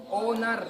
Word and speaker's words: honour: ऐसे ही मीनिंग है कि HONOUR, ये क्या है, ओनर, क्या है ये, ओनर, ओनर नहीं है, ओनर, क्योंकि ओ से बोलना है, H साइलेंट है।